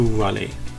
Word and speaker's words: Raleigh: We started the next day very early to avoid traffic again and headed over to Raleigh. And it really took us a while until we figured out that it's pronounced Raleigh.